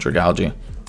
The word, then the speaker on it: Dragalge: I realized last time I didn't know how to pronounce Dragalge, and then I thought, wait, algae. So it's definitely called Dragalge.